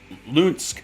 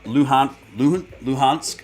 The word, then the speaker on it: Luhansk: five seconds ago a ukrainian controlled part of lunsk i think that's how you pronounce it announces total evacuation the ukrainian controlled part of uh luhan luhansk i i'm no i'm butchering that it's l-u-h-a-n-s-k